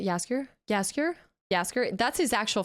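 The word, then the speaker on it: Jaskier: of an accent or anything but tab I pronounced dandelion yaskir yasker yasker yasker that's his actual first name though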